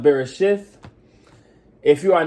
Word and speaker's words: Bereshit: In the Hebrew, it will be pronounced Bereshith.